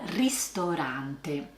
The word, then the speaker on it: ristorante: Let's start with the "ristorante" which is the classic place to go to eat. Pay attention to the pronunciation. It's called a rIstorante.